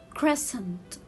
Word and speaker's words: crescent: So here it will be crescent. So here I have silent C. Silent C. I will not read letter C.